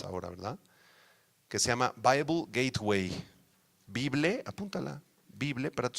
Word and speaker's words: Bible Gateway: Bible Gateway, no. Bible Gateway, please. All right, do you understand? Bible Gateway. ¿Cómo se escribe?